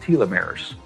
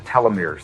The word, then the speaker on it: telomeres: of dna that are called telomeres or telomeres they're pronounced both ways they become brittle as